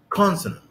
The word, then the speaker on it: consonant: طيب كلمة زي consonant consonant consonant consonant consonant. الصوامت consonant consonant مش consonant consonant. لا مش consonant. لا. The stress is on the first syllable, so it's consonant consonant consonant.